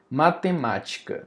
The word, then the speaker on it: matemática: Antepenúltima, por exemplo, a palavra matemática. Matemática, ó, matem. A sílaba mais forte é o má. Matemática. Vem almoçar. Não é matematica. Nem matematica. É matemática. Então nós temos essa sílaba mais forte.